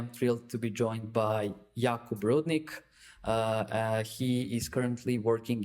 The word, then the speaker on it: Jakub: Yeah, lots to talk about there, and not to correct, but Jakub Rudnik. So I use like a U.S. pronunciation. All my European friends will say Jakub, so not a stranger to that at all.